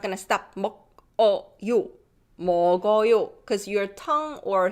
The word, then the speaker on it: 먹어요: This 그, 기억, gets pronounced because this iung, zero, doesn't have any sound and just carries the previous sound. So it becomes 먹어요.